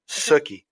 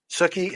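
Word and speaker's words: Sookie: Suki. Suki.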